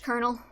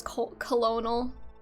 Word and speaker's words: Colonel: As you wish, Colonel. I still want to pronounce that as colonial.